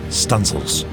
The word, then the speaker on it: studding sails: She might even run out the stunsail booms to set studding sails, pronounced stunsails.